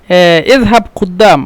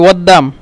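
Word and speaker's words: قدام: হামজা বলে এজন্য বলে ওদ্দাম মিশরের আঞ্চলিক ভাষায় কুদ্দাম কে ওদ্দাম বলে মানে উচ্চারণের ক্ষেত্রে অদ্দাম হবে আর লেখার ক্ষেত্রে তো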